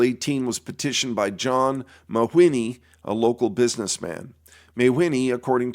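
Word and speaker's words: Mawhinney: His name is spelled M-A-W-H-I-N-N-E-Y, Mahwini.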